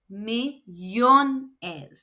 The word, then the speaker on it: millones: When millón is pluralized, the second to last syllable is yon, naturally. And so no accent is needed. Millones.